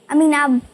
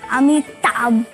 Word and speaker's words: अमिताभ: अमीनाब बच्चन। अमीनाब, अमीना अमीना बच्चन, बाबा, अमीना बच्चन बाबा, अमीना बच्चन बाबा। क्योंकि उसको प्रोनाउंसिएशन नहीं आता ना, अमिताभ बच्चन।